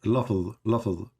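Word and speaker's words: لفظ: Lafz.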